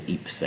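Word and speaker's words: Ypres: We entered Wipers because Eeps, I guess, is difficult to pronounce for the British, so they called it Wipers, for example.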